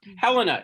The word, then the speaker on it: Helena: Helen, you're You're muted. muted. Oh, Helena, excuse me. We always mispronounce her name.